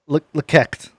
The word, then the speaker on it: LEK3CT: It's pronounced Lekekt. LEK3CT. Yes.